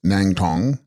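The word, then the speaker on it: snang-stong: Snang Stong, pronounced Nang Tong, phenomena and voidness.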